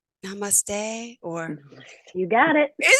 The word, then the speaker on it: namaste: It's something like namaste, or you got it.